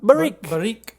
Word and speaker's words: Barrique: is called barik and it's spelled b-a-r-r-i-q-u-e almost like baroque but barik they do brewing and